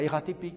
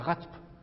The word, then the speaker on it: RATP: haut on dit l'unesco en revanche on dit la ratp nous dit pas la rate donc c'est ça la